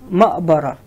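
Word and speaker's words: مقبرة: Next sentence, wa'amilta ma'bara. Wa'amilta ma'bara. As I said in Shami dialect, the qaf, we spell it a. So wa'amilta ma'bara.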